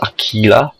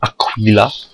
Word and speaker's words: Aquila: And yes, it is pronounced Aquila, not Aquila. I know, misleading.